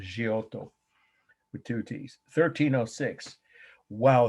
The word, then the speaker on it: Giotto: from indiana chiaro g-i-t-t-o it's of course italians pronounced giotto with two t's 1306 wow is there a